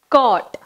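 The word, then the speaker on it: caught: Next, cot.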